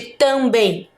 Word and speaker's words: também: vocês escreveram foi também Qual é a sílaba mais forte de também hum é o bem isso mesmo como ele tem